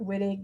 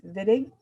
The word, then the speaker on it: Wittig: This is a German name, and so it's not Wittig, it's Wittig.